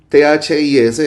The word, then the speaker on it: this: Se dirá, uy, ¿qué pasó ahí con la pronunciación? T-H-I-S, el singular, se pronuncia this.